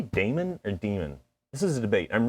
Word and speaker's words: daemon: Anyway, this word, daemon. I would have said daemon, but when I looked it up, I think the pronunciation is actually demon.